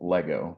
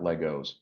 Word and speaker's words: Lego: build masterpieces with Lego which is the correct way to say it Lego not Legos but you can build